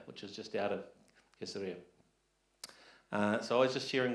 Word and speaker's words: Caesarea: When you go to Israel, you start to find out the ways that they pronounce it, which we don't. So they would say Caesarea. Caesarea. See, I can't even say it right. Because they'd say Caesarea. We're like, Caesarea? What's that? And we're sort of saying Caesarea, see? That's completely different.